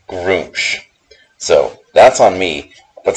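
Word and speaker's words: Gruumsh: egg is on my pce because I've always pronounced it grum and apparently it's supposed to be pronounced be pronounced groom so that's on me but still I have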